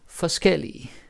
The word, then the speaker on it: forskellig: And then you got forskellig, different, like the adjective. So forskel and forskellig. Now the pronunciation is also different, right? Forskel, forskellig, different stress.